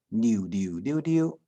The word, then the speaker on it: 流流流流: 流流流，客家话念作溜溜溜溜，迄就是阿平哥同人介绍过的哦。